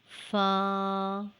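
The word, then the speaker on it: ف: Fa is a light sound letter. It is pronounced when the tip of the two upper jaw teeth touches the inner part of the lower lip.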